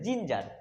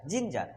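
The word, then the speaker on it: ginger: জি ই আর দেখো জি এর পরে আই আছে তাই এখানে জির উচ্চারণ বর্গিন হবে ওকে এটার উচ্চারণ হচ্ছে জিঞ্জার জিঞ্জার কিভাবে জিঞ্জার আমরা শুধু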